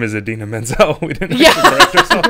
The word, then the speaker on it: Idina Menzel: Adele Dazeem.